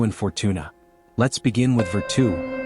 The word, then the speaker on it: virtù: Let's begin with Virtu, pronounced Virtu.